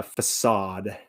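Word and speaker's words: façade: got a nice facade a facade as it's spelt facet a facade it's the front you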